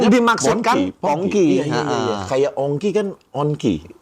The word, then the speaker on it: Pongki: Tapi nama Ya dibacanya yang dimaksudkan Pongki.